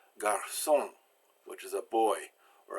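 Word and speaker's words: garçon: the S sound now sometimes you've got a sea with a sadya on it and that's pronounced I can ask also even when it's not followed by E I or Y so if you want to make an a/c pronounce like an acid it's not followed by the right word you put this idea little squiggle coming down from it so we have Garcon which is a boy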